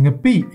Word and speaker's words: Ngapi: Ladies and gentlemen, I present to you Ngapi. This ingredient, spelt Ngapi in English, is pronounced Ngapi in Burmese.